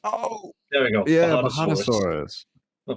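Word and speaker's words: Bajadasaurus: No, Bulgarasaurus. What? It's like a Margosaurus with the spikes facing Oh, forwards. Bahatosaurus. Oh, There we go. yeah, Bahatosaurus.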